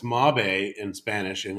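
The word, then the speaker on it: Mabe: the the the brand she's talking about it's mob a in spanish and it's m-a-b-e when you pronounce it out it's maybe is it gonna work yeah maybe actually mobby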